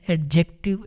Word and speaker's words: adjective: Adjective praise basically a group of words which does the work of an adjective is called adjective praise. ये होता है adjective, adjective D silent होता है।